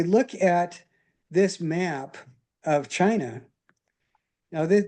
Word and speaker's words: Qin: But anyway, if we look at this map of China, now this this word Q I N is pronounced chin and that is where we get the word China.